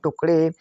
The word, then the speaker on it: टुकड़े: अब हम नेक्स्ट देखते हैं TUKADE पढ़ेंगे हम टुकड़े। तो टी से तो होता है टा, यू से छोटे यू की मात्रा हुआ। के का मतलब क। क्या? क। ए साइलेंट रहेगा। डी का मतलब बड़ा होता है और ई का मतलब ए की मात्रा हुआ टुकड़े।